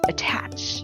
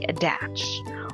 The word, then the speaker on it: attach: An exception under this rule is if T is within a stressed syllable, it doesn't change to a D sound. Like in the words attach, you don't say adach, or tattoo, you don't say tattoo, right?